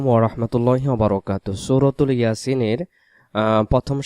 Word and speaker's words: ইয়াসিন: ইয়াসিন, ইয়াসিন ইয়াসিন বলবো না আমরা, ইয়া এক আলিফ, সিনকে আমরা 4 আলিফ টান দিয়ে দেব, উচ্চারণটা করবো ইয়াসিন।